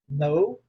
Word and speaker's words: know: O verbo conhecer, por ser um verbo irregular, é know, knew, known. New, no. Você está vendo aí que esse K é só enfeite, tá? Tá, Madalena, né? Lígia, só enfeite, Sim. tá bom? Serve para nada, né?